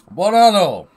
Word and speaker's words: Buon anno: Buon anno.